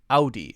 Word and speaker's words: Audi: about this one ow ow ow d-o-d ow ow d sometimes Oh w is pronounced this way right Oh W is usually